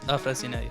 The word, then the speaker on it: Afrasinei: So my surname is actually Romanian and it is Afrasinei. Afrasinei.